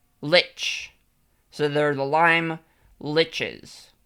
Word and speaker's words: lich: How do you say like? Lich. Lich.